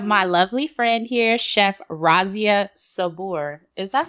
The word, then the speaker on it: Razia Sabour: today we have my lovely friend here Chef Razia Sabor is that how you pronounce pronounce it absolutely yep okay so Chef